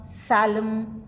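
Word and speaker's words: psalm: as PO with aspiration silent in words like cboard pneumonia salum receit where P remains silent alic variants of per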